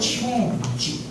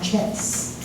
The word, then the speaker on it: change: Okay, climate change, not chance. Okay, climate change.